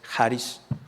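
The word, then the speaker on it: χάρις: La palabra del griego charis, algunos la pronuncian charis en inglés, otros charis. La pronunciación más correcta es charis.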